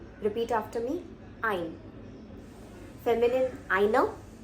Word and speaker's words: eine: Feminine, einer. So you have to pronounce that ending a sound to differentiate.